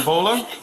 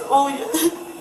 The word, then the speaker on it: Olia: Yeah, try to find How do you say your first name? Vola? It's Olia. What is it? Olia. Olya?